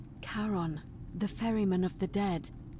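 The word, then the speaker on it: Charon: is a little off the name you heard wasn't karen it was c-h-a-r-o-n as in caron the ferryman of the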